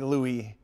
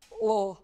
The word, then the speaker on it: Louisville: You gotta say it right. You can't say Louis or Louis. Louisville. I mean, if you really wanted to, you could, but they say Louisville. Louisville. It's almost like Louisville.